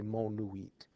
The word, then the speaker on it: monuit: Now, if you remember, Romans wrote V, U as V, so this would have looked the same to them, so, but it's pronounced differently. We're going to say monuit, monuit.